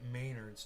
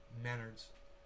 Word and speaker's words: Menards: donald trump and john maynard i work at maynards trump and maynard used to sue each other just google those dudes together and it's pronounced menards oh menards really not important though yeah it's